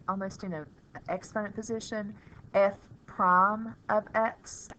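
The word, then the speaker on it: f′(x): in a exponent position F Prime of X is how you say it I top it out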